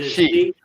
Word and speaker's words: Xi: pronunciations of his name is it C like they make me question it's C right I thought it was XI jingping XI Jing yeah it's like she but I always I